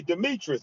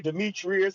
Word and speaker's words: Demetris: Am I pronouncing your first name right? Absolutely. Demetrius. That's what I most people say. Demetrius is all right too.